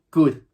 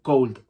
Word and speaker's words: could: También importante de could que yo la L no la pronuncio. Digo could, no digo cold. No digo cold, no digo cold, que sería frío. Digo could. Could. C-O-D. La O y la L me la como.